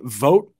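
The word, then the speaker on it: Vogt: offensively and then uh Henry vote I believe is is how you pronounce the last name v-o-g-t uh had one of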